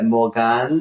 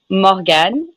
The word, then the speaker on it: Morgane: I assume I say that incorrectly because in the UK we would say Morgan, but in France you probably say it very pretty and beautiful. Do you say like Morgane or how do you say it? I say Morgane in French, but Morgan is fine.